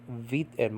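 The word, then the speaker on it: βήτα: are pronounced differently like beta nowadays is called in modern Greek vit and modern Greek Vita okay and Zeta and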